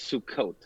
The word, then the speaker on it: Sukkot: pronunciation well you know if you're speaking about an individual sukkah plural it's sukkot so you did just